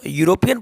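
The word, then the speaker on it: European: Okay, इसको बच्चों यूरोपियन पढ़ा जाएगा, क्योंकि यहाँ पर ये जो ई है, ई साइलेंट है। ई को छोड़कर यू आपको यहाँ पर या का साउंड देगा, यूरोपियन, जो कि एक कंसोनेंट साउंड है।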